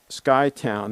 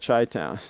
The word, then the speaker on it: Skytown: Oh, just so you know, Craig, my YouTube handle is actually pronounced Skytown instead of Chi-Town.